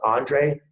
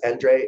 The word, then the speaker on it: Endre: And it's pronounced Andre if you're in the US, Endre if you're in Europe.